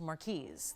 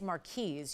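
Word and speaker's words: marquise: business thinking it was Marquee cut but it's actually proper pronunciation is mares you do say the S So for anybody who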